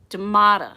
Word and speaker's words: Damata: Last name is Damata, so it's spelled capital D-A, like duh, and then capital M is in military, O is in Oscar, T is in Thomas, A.